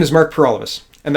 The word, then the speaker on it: Paralovos: my name is Mark pur all of us and that rhymes with for all of us and that sounds cheesy